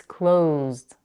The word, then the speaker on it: closed: for example close becomes closed again make sure not to add a vowel between the Z and the D it's not close it